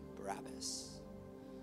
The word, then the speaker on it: Barabbas: His name was Jesus Barabbas. But the plot gets thicker than that. We actually say this man's name wrong. Did you know that? It's not pronounced Barabbas.